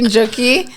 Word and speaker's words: Njoki: Okay, so actually the name Ikojn is my name Njoki backwards. Oh, Yes. okay. Yes. That's interesting. So if you look at it, it's actually Njoki spelled backwards, and the J is silent.